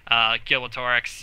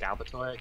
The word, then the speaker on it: Galbatorix: goes back and says, Gilbertorix, he was, like, I butchered that name, probably. What name? Gilbertorix, the main bad guy? Galbatorix? Galbatorix. It's not Gil, it's Gal.